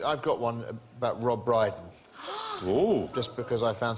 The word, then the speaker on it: Brydon: got one about Rob Briden oh just because I found something that rhymes with brighten yeah there was a